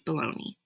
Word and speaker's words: bologna: book and baloney and bologna is spelled weird yes but that's how it's pronounced as baloney okay so were you